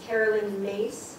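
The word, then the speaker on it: Caroline Myss: Her name is Carolyn Mace. It is spelled M-Y-S-S.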